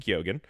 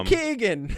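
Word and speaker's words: Keoghan: It's pronounced Kyogan. Barry Keegan.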